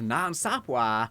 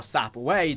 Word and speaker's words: Nan Sapwe: The skull of Nan Sapwa or Sapway depending on however you want to pronounce it.